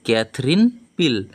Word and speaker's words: Katherine Pyle: উড়তে এর লেখিকাকে লেখিকা হলো ক্যাথরিন পিল উচ্চারণটা হবে ক্যাথরিন পিল তাহলে আমরা লেখিকা সম্পর্কে